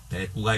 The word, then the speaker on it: 대구: 또 역시 그 바로 밑에 수사법 동그라미 1번 대꾸가 있겠고요. 그 다음 주체는 기러기 적어주셔야죠. 수사법은 동그라미 1번 대꾸 똑같은데 쓰기는 대구라고 써도 읽기는 대꾸라고 써야 돼요. 이 구자는요 둘째 음절로 가면 꾸로 발음됩니다. 대꾸, 명꾸 이런 식으로.